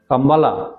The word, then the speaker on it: কাম্বালা: ভাবনা থেকেই বসন্ত কামাত কাম্বালা যেটাকে আমরা বাংলা ভাষায় যদি বলি কম্বলের মত উচ্চারণ করব সবুজের কম্বল কাম্বালা বলে একটা জিনিস উদ্ভাবন